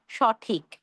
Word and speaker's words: সঠিক: সহিত বা সঙ্গে বোঝাচ্ছে, সেক্ষেত্রে উচ্চারণ হবে অ এর মতো। যেমন সঠিক না হয়ে হবে সঠিক, সচিত্র, সবিনয়, সস্ত্রী, সসীম, এইভাবে।